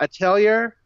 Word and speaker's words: Atelier: You pronounce the R?